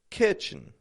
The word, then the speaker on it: kitchen: Kitchen. The other day I was talking about cleaning the kitchen. The kitchen. First syllable, strong on that I. Ki. The second kind of almost drops the E.